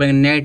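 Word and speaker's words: gnat: है अब जी जब जी के बाद न तो क्या हो जाएगा जी साइलेंट हो जाएगा जी आपका साइलेंट हो जाएगा इसको प नेट नेट माने क्या होता है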